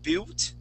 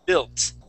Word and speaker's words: built: on this word we're not going to pay attention to that U so we're g to act like that U doesn't exist and uh we're going to pay attention to that I and use a short I sound okay so the word instead of pronouncing it built okay we would say B built built try that please